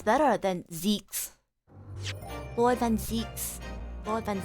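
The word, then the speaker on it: Zieks: Lord Van Zeeks, Mr. Vigil, Kazuma, and Gregson. Wait, it's pronounced Zeeks? Oh, I've been pronouncing it wrong this whole time. Damn. Zeeks? Okay, Zeke. Gotcha. It's Zeeks.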